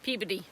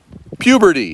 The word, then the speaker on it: Peabody: Peabody. Wow. Wow. And how do you spell it again? Let's try it one more time. PEABODY. Wow, that's not But Peabody. we don't pronounce the O.